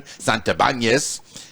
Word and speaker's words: Santibanez: Of course, I like to pronounce it the Spanish way since I'm half Cuban, Santibanez.